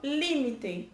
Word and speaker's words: límite: No português, limite. No espanhol, límite.